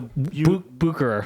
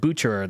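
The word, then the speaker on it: Bucherer: think we went to Booker buer buer they pronounced it buerer though no they did it with like a it was like a CH a cha it was a cha so but and we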